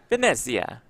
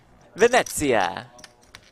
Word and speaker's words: Venezia: Is that good pronunciation? Italian pronunciation? Probably I think not. so. Yeah, Oh, you nailed like it, Jeff. It rolls right off the tongue Yep. for you. Venezia. That's much better.